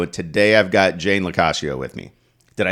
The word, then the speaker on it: Locascio: And my tagline is Locascio rhymes with pistachio.